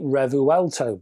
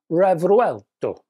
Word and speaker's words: Revuelto: specifically one car now my cack-handed English way pronouncing this word might be revuelto but it ain't going to be that as a folks it's going to be more Italian so we got revuelto possibly but you can shoot